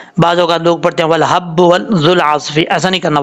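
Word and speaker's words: وَالْحَبُّ: ہجے کر لیتے ہیں پہلے. واو لام زبر ول, حا با زبر حب, والحب با بشبو, والحب. یہاں پر دیکھیں لام کے بعد ہا ہے اور یہ بریک ساؤنڈ میں پڑھا جاتا ہے.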